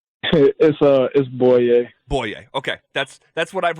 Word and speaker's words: Bouye: getting it right I've heard something to say boolie a boy yay what what is the exact way to say your name right is boy a boy yay okay that's that's what I've read just wanted